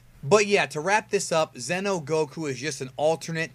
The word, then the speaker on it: Xeno: And I'm pronouncing it Xeno. You can pronounce it Xeno or Xeno. It's X-E-N-O, like Xenoverse, which is where the idea came from.